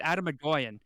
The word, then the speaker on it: Atom Egoyan: Actually, that's not how it's pronounced as well. It's Migolien. Adam. It's Adam Agoyan.